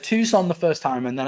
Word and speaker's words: Tucson: Like, bro, we pronounce it Tucson. But that's the thing. Like, I got it right the first time. I said Tucson the first time, and then I went, I'm